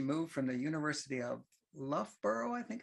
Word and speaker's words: Loughborough: A few years ago, just a few short years ago, I think, she moved from the University of Loughborough, I think it's how it's pronounced, University of Birmingham.